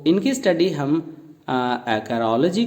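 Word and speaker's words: acarology: इसकी प्रोनाउंसिएशन है एक्रोलॉजी, एक्रोलॉजी।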